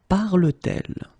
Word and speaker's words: parle-t-elle: For the same reason, we will put this T between the two. Parle-t-elle?